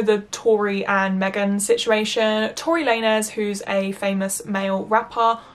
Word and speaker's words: Tory Lanez: day after I filmed this that it's actually pronounced Tory Lanez. Wow, I had no idea. I never listened to his music anyway, but yeah, no, so I say Tory Lanez instead of Tory Lanez for this entire video, which is an extremely